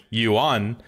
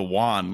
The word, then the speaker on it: yuan: way it is now technically I was actually pronouncing it a little bit wrong it should be like yuan but I actually just thought it was the the Wan like like no that's the coin in Mexico